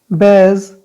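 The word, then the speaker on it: badge: बैज। ठीक है, डी नहीं आ रहा है।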